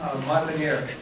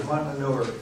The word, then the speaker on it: Monmonier: Mark Monmonier is the distinguished, I just pronounced that wrong, didn't I? Yes. Monmonier. Mark Monmonier, excuse me. Well, wait a minute, the worst I've ever heard is Monmonier.